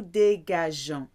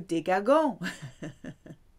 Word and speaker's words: dégageons: For the nous conjugation, you need to keep the E after the G to maintain that soft G sound. Nous dégageons. If that E wasn't there, the G would become a hard sound. Nous dégagons. Doesn't sound right.